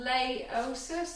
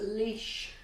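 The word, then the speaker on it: Laois: It's pronounced leash before you make a dick of yourself.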